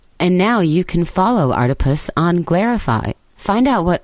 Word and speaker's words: Artipoeus: Artipoeus, pronounced like octopus, because art is everywhere.